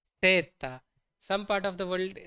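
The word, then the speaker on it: zeta: one Z or Z we say it as seta seta some part of the world they also say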